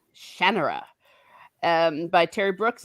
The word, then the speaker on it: Shannara: but terry brooks says shannara okay so i i always thought it was shanara but it's general yeah okay well there you are so with the emphasis on the ah shannara um by terry brooks